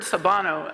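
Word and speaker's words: Sawubona: with me on that and and that word sabano um is spelled s-a-w-u-b-o-n-a but really if you click in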